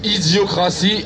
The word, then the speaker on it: Idiocracy: vu le film isiocratie ça se prononce Idiocracy avec un y à la fin Idiocracy et c'est